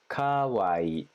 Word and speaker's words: Kawaii: the beginning that was my little trick is Kawaii I would think before I said it I was like come on Hawaii Hawaii Hawaii it's the same thing so at least in English it's the exact same if you just extend the e sound a little bit and then really overdo